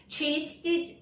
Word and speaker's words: чистить: Чистить зубы.